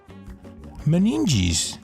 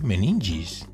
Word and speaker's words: meninges: Meninges pronunciation. Meninges. Okay, meninges.